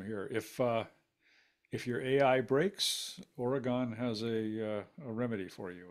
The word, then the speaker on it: Oregon: It is Oregon, and that is how you say it. It is not Oregon.